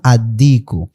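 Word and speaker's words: الصديق: যেমন আদ্দিকু, এখানে দেখেন আদ্দিকু, এখানে কিন্তু কি উচ্চারিত হয়নি। কারণ কি? দাল হলো, এই দাল হলো হরুফে শামসিয়ার অন্তর্ভুক্ত।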